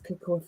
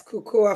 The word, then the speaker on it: Kukuwa: lot we're going to talk about that incorporates CUA Fitness am I pronouncing correctly yes CUA Fitness correctly yes fantastic brilliant brilliant so welcome